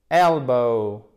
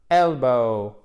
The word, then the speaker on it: elbow: Celui-ci, accent tonique sur la première syllabe. Sans faire de H aspiré. Elbow. Elbow.